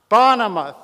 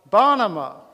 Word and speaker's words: Bonema: Bonema, thank you. For stress on the first syllable or syllable. Bonema.